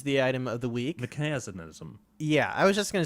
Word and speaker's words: Mekansm: uh mechanism is the item of the week mechinism yeah I was just going to say if valve would want us to pronounce it the right way it would be mechanism mechanism yes mechanism so this is this is